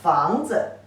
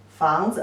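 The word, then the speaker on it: 房子: can say 房子 this character 子 only give the light touch tone. Don't pronounce it as a third tone like its original pronunciation.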